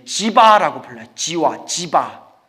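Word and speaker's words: जीव: 지바라고 불러요. 지화. 지바. 지바와 지와 중간 발음이더라고요.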